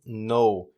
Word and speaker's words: null: Se escreve N-U-L-L, ou seja, nulo, traduzindo para o português, mas o americano pronuncia isso aqui parecido com a palavra não, chama-se no.